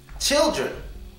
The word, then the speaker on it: children: It is on the last E. I said children, not children, but children. The schwa sound is on the last E, but the N is pronounced here. Unlike with ER, the N is pronounced. So it's not children. Children. It's children. Children. The N sound is important. Next word.